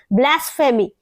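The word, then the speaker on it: blasphemy: से आप कैसे बोलेंगे ब्लास फेमी ये पीएच ई का मतलब फ फ आप इसको इस तरह से प्रोनाउंस करेंगे क्या होगा ये पी नहीं बोलेंगे फ में आएगा क्योंकि इस तरह से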